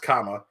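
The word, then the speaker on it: cama: and Spanish would be spelled c-a-m-a but pronounced comma but I just thought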